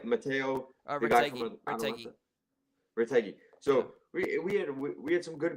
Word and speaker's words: Retegui: We got DiMarco scored, Di Lorenzo, Fratesi, and how do you pronounce our nine's name? Matteo, the guy from Retegui. Retegui.